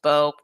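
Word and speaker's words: Mbow: Someone told me yesterday that the M in his last name is silent. So I hope they weren't just trolling me. But so it's Marcus Bow.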